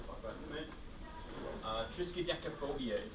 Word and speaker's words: triskaidekaphobia: Triskaidekaphobia is how you say that word.